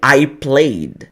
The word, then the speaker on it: played: passado no inglês você não fala o Ed a letra e ela é muda você não vou fala Ed você fala ó o joguei i played i played Tá vendo como eu só vou pronunciar o som do d bem Sutilmente então ó i played